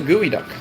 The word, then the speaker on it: geoduck: a shell pretty strange it's pronounced a gooey duck it does look kind